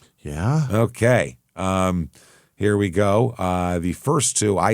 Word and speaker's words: Guy: Gee, Gy W. Gee. Got it. Okay. So, it's spelled guy pronounced G.